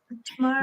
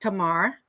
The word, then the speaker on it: Tamar: So welcome, Tamara. How do we say your first name? Tamar. My name is, it's pronounced Tamar.